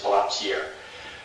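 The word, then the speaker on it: palantír: It's actually pronounced incorrectly. The company is called Palantir, DoD uses their product, it's called Palantir, but Tolkien meant it to be pronounced the French way, it's Palantir.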